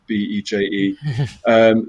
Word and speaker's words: Berger: trio version of berger as how i pronounce it beje the trio version being